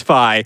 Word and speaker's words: Fi: pronounce this character's name, whether it is Fee or Fi. I think eventually the entire studio agreed it is Fi. So we are saying it right now. It is Fi.